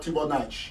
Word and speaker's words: Tchouanang: very good that his name is not correctly pronounced. I don't take offense. I know you're French. Actually, it's called Tchouanang.